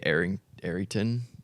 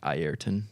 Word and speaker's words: Ayrton: I watched a video where it was like a reporter used to call you say Arrington, Yeah, but he says like Ayrton Ayrton. because yeah. that's how you say it.